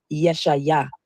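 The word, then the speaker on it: ישעיה: The funny thing about the name Isaiah is, many people don't know that the true Hebrew pronunciation of Isaiah is Yeshaya or Yeshu.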